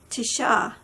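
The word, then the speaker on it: Tise: Okay, and now Florentin Tishaw is how you say his name. And it's his last name is spelled T-I-S-E, but he says it Tishaw.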